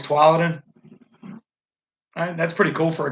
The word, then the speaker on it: Tualatin: Oh, so I'm saying it wrong. It's Tualatin.